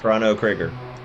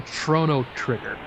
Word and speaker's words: Chrono Trigger: No, I'm trying to say Chrono trigger because it's a CHRONO. See, you got greedy there. You should have said Chrono Trigger.